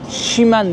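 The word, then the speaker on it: Ximen: Şimen bölgesine geldim. Umarım doğru telaffuz ediyorumdur. X'le yazılıyor. X M E N Şimen bölgesine geldim.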